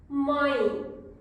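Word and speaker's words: mãe: start पाई father पाई माई nasal sound नाक से आवाज आ रही है माई माय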